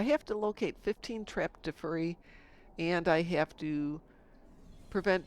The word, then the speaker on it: Defera: Apulu says it sounds like I'm saying Defera. It is Defera. I thought it was Defari.